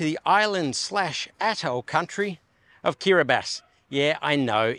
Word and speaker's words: Kiribati: island slat country of kirbas yeah I know it's spelled like it looks like kirati but TI in the local language is pronounced s hence kirbas so I said in